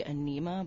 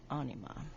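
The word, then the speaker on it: Ænima: their follow-up album anima it's actually got the pronunciation I always say enema but apparently it's anima I never do that I've messed that up yes 1996.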